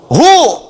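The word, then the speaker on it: هو: Singkatan dari huwa. Hu disingkat huwa. Kalau Anda wakaf membaca kalimat bahkan dalam bahasa Arab, apalagi Al-Quran, berhenti pada kalimat huwa, maka huwa-nya nggak bunyi, bacanya hu. Wa-nya nggak bunyi.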